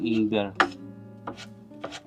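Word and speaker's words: imbir: Tawag ng imber. Imber. Yun ang tamang pronounce pala.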